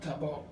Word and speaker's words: tabo: pill it's called a tabot it's it's funny how they pronounce it cuz they almost pronounce it like it's TB o t tabot is the